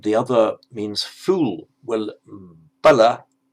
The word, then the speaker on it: bala: Well, bala with a short a is strength, and bala, a different sound, a different meaning, that means fool.